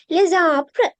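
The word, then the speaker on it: les arbres: හැබැයි මේක less කියලා pronounce වෙනවා කියලා නෙවෙයි කියන්නේ මේ කර එකට යන්න. එක flow එකට යන්න. les apre එකට යන්න. right? les apre හරියට නිකන් තනි වචනයක් කියවනවා වගේ.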